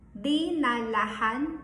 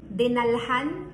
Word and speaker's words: dinalhan: Dinalahan is acceptable, but in a casual conversation, we tend to drop the last syllable. So we say, dinalhan niya siya ng bulaklak.